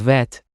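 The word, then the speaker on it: ב: show them to us of course the BET becomes vet the CF becomes and the P becomes Fe but wait what about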